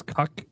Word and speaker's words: CUK: I got a sponsorship coming up with this cuck company. Literally CU. It's CUK. That's all you're I did not come up with Yeah, it's in the official documentation. It's not pronounced differently.